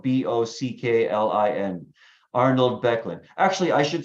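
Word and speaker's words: Böcklin: a famous painting by a Swiss painter Arnold becklin that's spelled b-o-c-k-l-i-n Arnold becklin actually I should say a series of paintings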